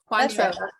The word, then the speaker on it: Cointreau: Cointreau.